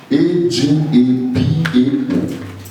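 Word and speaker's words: ἀγαπάω: It's not agape. A-G-A-P-A-O. A-G-A-P-A-O. Pronounced agapao.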